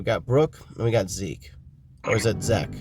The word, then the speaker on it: Zeke: We got Brooke and we got Zeke. Or is it Zek? How do you say it? Zeke? It's Zeke.